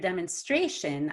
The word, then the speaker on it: demonstration: uuc conclusion and then when i see the word demonstration i know that i have to stress the a because that's one vowel to the left now the question is